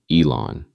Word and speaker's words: Elon: Asked who's the best in the world at industrial AI, he said the name rhymes with on, Elon. And then, quote, "People say